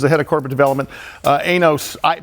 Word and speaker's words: Ainos: Ainos. Ainos is what it is, right? Ainos, which is spelled A-I-N-O-S.